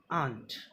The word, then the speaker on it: aunt: एक होता है AUNT, आंट. एक ये है ANT, एंट. Okay, there is difference between AUNT, आंट एंड ANT, एंट.